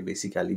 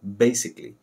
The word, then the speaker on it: basically: একটা বেসিক বানান বা উচ্চারণ আমরা ভুল করি, এটাকে অনেকে বেসিক্যালি বলে। আসলে হবে বেসিকলি, বেসিকলি।